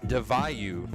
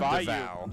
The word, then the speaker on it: DeVayu: That is DeVayu, not DeVow.